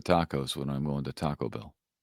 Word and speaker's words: Taco Bell: How do you say Taco Bell? Taco Bell. Bell's the is the word that you hit in that.